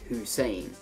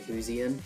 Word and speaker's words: Hussein: Because your last name is pronounced Hussein, so you can have Sane. Because a lot of people pronounce my last name Husian, dumb as fuck, because it's Hussein.